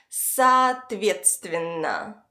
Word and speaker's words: соответственно: The second O, which is right before the stress syllable, is pronounced as a short A.